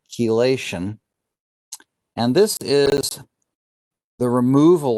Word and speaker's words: chelation: final chemical reaction is chelation so it's spelled like chi but it's pronounced key chelation and this is the